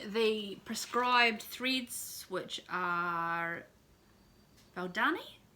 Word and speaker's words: Valdani: So this is my Autumn Quaker by Rosewood Manor, using the prescribed threads, which are Valdani? How do you pronounce that? Valdani. Valdani.